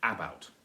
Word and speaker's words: about: About, or is it about? About, it's about. Stress on the second syllable.